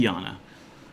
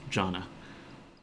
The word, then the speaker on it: Jana: Walter of Britain, Jaffa of Yew, Jana, or I think it would be Yana. But again, 13-year-old me and my 10-year-old sister, we figured that must be pronounced Jana.